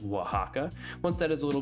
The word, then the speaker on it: Oaxaca: of shredded Oaxaca cheese that is oxaca I'm pretty sure but it's pronounced Oaxaca once that is a